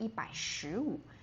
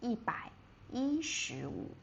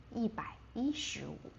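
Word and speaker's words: 一百一十五: We don't say yībǎishíwǔ. We pronounce the one. So, we say yībǎi yíshíwǔ. yībǎi yíshíwǔ Okay, so that is um revision from last week's um revision.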